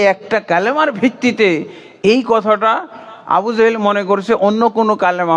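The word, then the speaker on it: أبو جهل: কোন ভুল নাই তারপরে আবু জেহেল আপনার আবু জেহেল বলেন আবু জাহেল বলেন আসলে আরবিতে ওর আসল উচ্চারণ হলো আবু জাহাল কিন্তু আমাদের সমাজে আমরা কি বলি আবু জেহেল তাই না আবু জেহেল বলি তো আবু জাহাল ও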